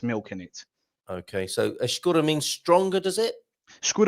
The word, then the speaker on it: escura: So we got the soft E with a sh sound, almost like you're shushing someone.